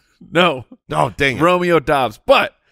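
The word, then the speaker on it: Doubs: all these prospects and it's it's romeo but dubs no no dang romeo dobbs but it's spelled d-o-u and it was like romeo dubs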